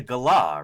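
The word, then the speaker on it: galah: Those are That was a gala, right? Which I I learned how to pronounce that live on stream from some uh some Aussies in the chat. Gala. Oh, it's a gala.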